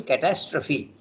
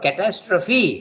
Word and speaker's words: catastrophe: from the whole terrible catastrophe the word catastrophe has to be pronounced as catastrophe if you don't pronounce it then it becomes French catastroph okay but English you have pronounce that catastrophe okay they are not